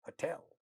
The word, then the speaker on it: hotel: So this noun hotel is an exception of that rule. This is a noun, but it has 2 syllables, but second syllable is getting stressed here, not the first one. So this is a small counterexample to the previous rule. But nonetheless, this is how it is spoken. So we say hotel, hotel, because the second syllable is stressed.